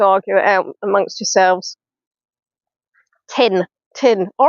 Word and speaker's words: Teignmouth: Tin. All right, Teignmouth. Well, why do they spell it Teign? If it's tin.